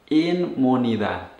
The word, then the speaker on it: inmunidad: Que su cuerpo está desarrollando, is developing, inmunidad. Make sure you pronounce that with I-N-M and not a double M like in English. So we say inmunidad.